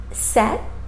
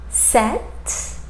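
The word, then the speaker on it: sept: The number set, set, that P is silent in that word, set.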